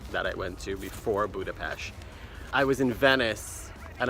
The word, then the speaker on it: Budapest: but pronounced Buda-Pest.